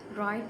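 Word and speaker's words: write: Knife में के is silent, listen में टी इज़ साइलेंट, राइट में डब्ल्यू इज़ साइलेंट और हाई में जे इज़ साइलेंट।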